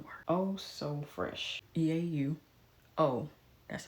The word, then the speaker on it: eau: So fresh, but it isn't OH. It's spelled like eau de parfum. Oh so fresh. EAU. It's a play on the word. Oh so fresh. EAU. Oh.